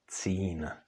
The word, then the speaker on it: cín: So in contrast to d, t, n, when c, s, z are followed by měkké i, they do not change.